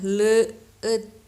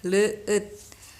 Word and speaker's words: leueut: Nah, mungkin kalian agak bingung bacanya leueut gitu ya. Nah, nanti kita belajar di bahasa Sunda itu memang ada ada ada gitu. Nah, untuk ini minum bahasa Sunda bahasa lemesnya itu dibacanya leueut ya, leueut.